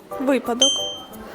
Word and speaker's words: випадок: черговий черговий неправильно черговий випадок чи випадок випадок правильно скільки звуків у слові